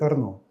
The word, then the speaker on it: Arno: Even in Italy, I heard the native locals pronounce it Arnó. But then again, this is apparently like Picásso and Picassó. Both ways are fine, but actually, classical Italian, the language of Dante Alighieri, is "Árno."